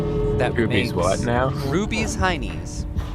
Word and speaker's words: Ruby's Heinies: Ruby's Heinies. People usually pronounce it as Ruby Shines, or just as Rubies, but I know what they're doing. if the company calls it Rubies, then the name of the company is Rubies Heinies, not Ruby Shines.